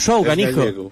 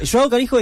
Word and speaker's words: João Canijo: ¿Cómo lo podríamos pronunciar bien? Como lo quieras. Perfecto. Joao Canijo.